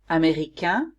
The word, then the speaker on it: américain: Américain, I don't pronounce the N.